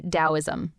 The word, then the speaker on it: Daoism: And today we're diving into Dowoism, one of the most chill yet profound philosophies ever.